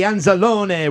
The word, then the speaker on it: Anzalone: I can say his name, Anzalone, but if you say it the correct way, Anzalone, would you welcome to the podcast?